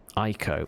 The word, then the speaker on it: Ico: Ico. Oh, it's spelled I-C-O. It's not A-I-K-O. I-C-O, it's spelled.